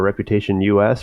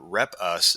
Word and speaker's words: Reputation US: a collective effort here rep us is the shorter pronunciation for the company and it's really representing